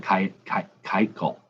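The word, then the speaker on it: Keuchel: kykel i think jimmy told me how to pronounce it kite call dallas i don't trade a lot of batters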